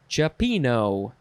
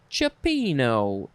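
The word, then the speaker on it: cioppino: stands for next is chipino chopino it is spelled c-i-o-p-p-i-n-o cipino noun from 1917 a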